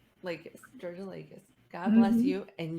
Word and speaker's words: Georgoulakis: Yes, Georgoulakis. Yep, that's pretty close. It's like Pretty Georgia close. Lakis, like the state of Georgia, and then Lakis. Lakis, Georgoulakis.